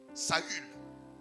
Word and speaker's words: Saül: vaillon guerrier qu'on appelait Saul Saül pour mieux prononcer saü lorsque le prophète Samuel